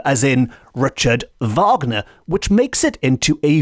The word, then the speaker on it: Wagner: people I certainly would pronounce Wagner the way it's supposed to be pronounced in the German which is Vagner as in Richard Vagner which makes it into